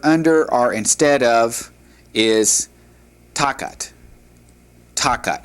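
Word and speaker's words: תחת: And then the word under or instead of is takat. Takat. Understand and and see that the accent is above the first to. And so you have takat. All right.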